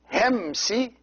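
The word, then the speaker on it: ϩⲉⲙⲥⲓ: And these two words here, Hemsi, see this word, the first word is two syllables, Hem and then Si.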